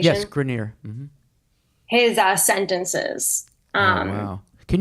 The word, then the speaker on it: Grenier: Is that the pronunciation? Yes, Grenier.